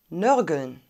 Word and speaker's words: nörgeln: wort nummer 9 börgel nörgeln wir haben ein offenes das r kann wieder konsonant ish gesprochen werden wird aber meistens reduziert oder lokalisiert und schwierig ist möglicherweise die endungen allen wegen der laut folge ln warum musst